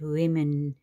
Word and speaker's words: women: are ten lovely women you pronounce it a bit different women okay woman women and child we don't